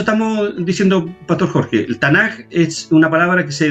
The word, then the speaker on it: Tanaj: la palabra pero como la k no se pronuncia en el griego es tanaj se entiende ahora más